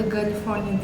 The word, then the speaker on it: GALifornia: benefit galifornia alını uygulayacağım Bu arada galifornia diye okunuyor gerçekten flon var daha